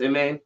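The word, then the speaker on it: Imane: Amani? She's the Amin. I thought it was Amani, but maybe it is Googled Amin. it. It's Amin. Okay, I'm so sorry for all of the mispronunciations up until this point.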